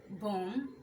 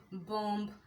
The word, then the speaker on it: bomb: Aplomb, bomb, climb, comb, crumb, debt, doubt, dumb, jam, lamb, limb, plumber, succumb, thumb, thumbs up, bomb, tom. এইসব ওয়ার্ডগুলোতে বি উচ্চারিত হয় না। যদি আমরা beta সহ বলি অ্যাপ্লম্ব, বম্ব, নাম্ব, limp, তাহলে কিন্তু আমাদের উচ্চারণগুলো ভুল হয়ে